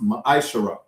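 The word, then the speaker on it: מעשר: Numbers chapter 18 verse 21 and Malachi chapter 3:8-10 which means tenth in the Hebrew pronounced maishara 10% of every penny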